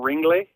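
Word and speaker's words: Ringlé: I call them Sun Ringles, but apparently they're Sun Ringley. Ringley.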